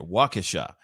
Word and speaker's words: Waukesha: That's how you say it, Waukesha.